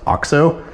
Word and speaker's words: OXO: It's made by OXO, which apparently is pronounced OXO, but really cool setup, been using it for years.